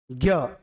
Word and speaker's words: ज्ञ: अगला आता है जिसको हम बोलते हैं ज्ञ बोलते हैं बेटा ज्ञ उच्चारण किया जाता है ज्ञ से मिलकर बनता